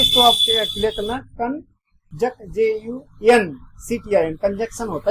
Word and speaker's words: conjunction: कंजंक्शन होता है, कंजक्शन होता है, कंजक्शन नहीं कंजंक्शन होता है, लिखता हूं। कंजक्शन होता है, CONJUNCTION, कंजक्शन, कंजक्शन होता है। इसको आप क्लियर करना, JUNCTION, कंजक्शन होता है ये, यानी